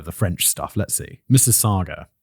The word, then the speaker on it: Mississauga: French stuff let's see Mississauga okay sounds like Mrs Saga okay easy Carla's family